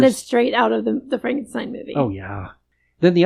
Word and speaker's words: Frankenstein: Victoria Frankenstein. It's pronounced Frankenstein.